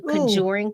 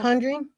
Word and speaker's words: Conjuring: Ooh, they have the new Kajuring coming out. Conjuring.